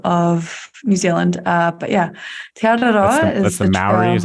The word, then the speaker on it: Te Araroa: Te Araroa. So it's a bit of a tongue roll on the R.